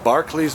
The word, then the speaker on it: Barkley: the Barclay's marathons and that's the way they say it right Barkley's marathons is Barkley marathons Barkley marathons gotcha my